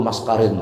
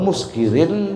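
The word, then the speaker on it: مسكر: Nabi bersabda kullu maskarin haram. Padahal muskirin bacanya.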